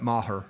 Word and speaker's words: Maher: bursting for Brett and may har may her how to say his name mama her Marv yeah Brett Maher well I open it